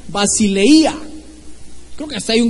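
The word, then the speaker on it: βασιλεία: 932, que se pronuncia basileia. Creo que hasta hay un grupo así que se llama Basilea, no, pero ese es basileia, con tilde en la i.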